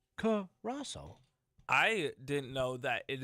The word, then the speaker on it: Curaçao: Like Caraco, for example. It's pronounced Curaçao. You know, if you were looking at it, you'd be like, "That's Caraco."